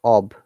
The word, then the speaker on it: of: curse a craved op remember this off of guys should sound like ob and oh double left is off this is a very basic pronunciation tapes remember and we need to be careful do not say off in both cases o f is ob and o double f is off her father can't drive